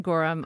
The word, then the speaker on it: Gorham: fantastic that are really late yeah yeah and Gorham is how you pronounce it right yep so John Gorham who is I think probably one of the